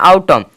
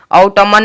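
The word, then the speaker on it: autumn: ना कि एन का आउट मन नहीं यूज है आउट मन हो जाता अगर एन का भी यूज होता एन का भी प्रोनंसिएशन होता तो आउट मन हो जाता लेकिन यहां पे टम हुआ है आटम टम मतलब होता है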